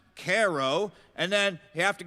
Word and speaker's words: Cairo: a town called Cairo, which is spelled Cairo, but it's pronounced Caro.